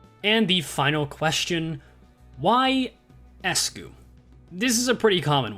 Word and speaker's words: ESGOO: Apply Ryoshu's methodology to that, and you get ESGOO, which doesn't look very visually appealing and could also be pronounced skoo, so I added an E to the beginning for ESGOO.